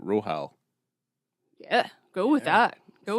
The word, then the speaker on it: Rohal: It's like Rohan, except Rohal.